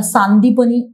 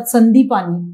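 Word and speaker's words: सांदीपनि: पण संदीपानी असं आहे क्चुली आपण त्याला सांदीपणी असं प्रोनान्स करायला पाहिजे पण लोक प्रोनान्स करतात संदीपानी हे चुकीच प्रोनन्सिएशन सांदीपणी हे भगवान श्रीकृष्णाचे गुरु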